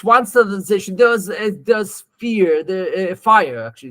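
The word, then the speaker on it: FHIR: There's fire, actually, it's pronounced fire.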